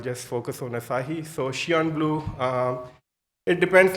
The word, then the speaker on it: SION: How do you pronounce Xi'an? Is Xi'an or Xi'an, or it's a mixed, or Sion? So actually the survey was done on that, and correct pronunciation is Xi'an.